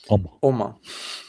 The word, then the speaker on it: Omma: How do you pronounce it? Omma.